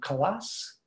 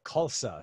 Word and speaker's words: Khalsa: say your last name colossus uh khalsa so k-h-a-l-s-a right rhymes with salsa okay if only i